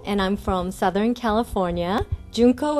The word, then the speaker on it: Junko: Junko, it's spelled J-U-N-K-O, and I know it looks like junk with an O, but it's not. It's June with a K, because God don't make junk.